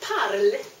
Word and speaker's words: parles: You don't pronounce ES either. Tu parl (but you write TU PARLES) At IL, ELLE, ON you add the same ending.